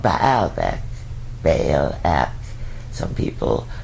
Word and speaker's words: Baalbek: They were also launched from Lebanon in the north at a place called Baalbek. Baalbek. Some people pronounce it different ways. B-A-A-L-E-K. Baalbek.